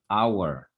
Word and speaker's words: hour: que no se pronuncia por ejemplo la palabra hour de aquí la H no se pronuncia y como se pueden